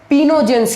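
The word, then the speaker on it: pnictogens: तो 15th group को हम लोग पिनोजेंस कहते हैं, लेकिन इसको लिखते क्या है, PINCOGENS। इसमें को वर्ड ऐड कर देते हैं, लेकिन ये को वर्ड साइलेंट होता है, तो कहते क्या है, पिनोजेंस।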